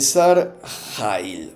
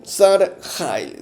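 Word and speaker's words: שר חיל: categoría social y joab joab era el sar hail no saril sin Traducir que era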